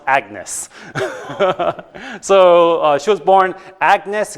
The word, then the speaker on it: Agnes: Commonly pronounced Agnes.